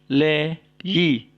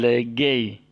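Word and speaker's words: λέγει: Le-yi. Ya, bukan legei. Ya, bukan legei, tapi le-yi.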